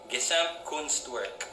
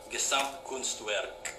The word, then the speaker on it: Gesamtkunstwerk: There's a word from the Bauhaus ideology called Gesamtkunstwerk. I think pronounced better, it would be Gesamtkunstwerk or Kunstwerk, a total work of art.